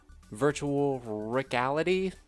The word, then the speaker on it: Virtual Rickality: The virtual reality game, Virtual Rickality? Yes, that's how you pronounce it.